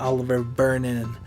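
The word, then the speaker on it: Olivier Vernon: That's how you say it, Oliver Vernon.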